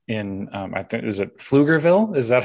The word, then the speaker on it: Pflugerville: I was not familiar with them, was community impact in, I think, is it Pflugerville? Is that how you pronounce it? Texas, Pflugerville, yes.